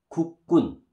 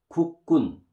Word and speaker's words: 국군: How do you pronounce this? 국군, 국군, 국군.